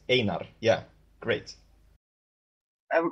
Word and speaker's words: Einar: So it's Einar, and I was saying Einar. Sorry about that. Yeah, you're correct. Einar.